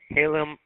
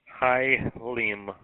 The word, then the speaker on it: Hialeah: WRPS 558, Ralph from Halem. I can't even pronounce that one. Henry Ida Adam Lima Edward Adam Henry, Florida. Hialeah, Florida.